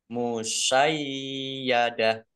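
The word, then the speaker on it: مُشَيَّدَة: Musayyadah. Nah, yaknya ada tasdidnya dibaca double. Dibaca musay dulu ya. Musayyadah. Tak marbutoh karena wakof dibacanya hak sukun. Musayyadah dibaca pendek wakofnya karena tidak ada tanda panjangnya.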